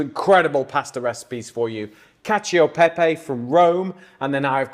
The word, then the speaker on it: cacio e pepe: We've had a little debate in here on how to pronounce it, and we've settled on cacio e pepe, haven't we?